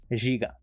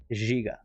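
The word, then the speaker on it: Žiga: You know, you want to know how it's pronounced in Slovenian? You want to know how it's pronounced? Ziga. Ziga.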